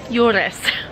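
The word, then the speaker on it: Juures: Yules.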